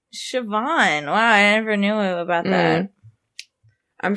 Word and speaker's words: Siobhan: behind Siobhan Fallon Hogan's Siobhan yeah where's the V in this is that the name that's how you pronounce that yeah it's what it's Irish I think Siobhan never knew about that